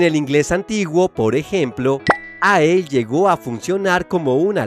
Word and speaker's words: æ: Y guías universitarias de pronunciación del inglés antiguo explican que ae, llamada ash, se pronunciaba de forma cercana a la a de apple.